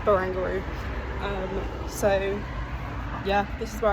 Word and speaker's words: Barangaroo: In my head, I was reading it as Bangaroo, like kangaroo, but no, I think it's Barangaroo.